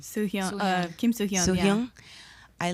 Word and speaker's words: Soo-hyun: Soo-Hyun.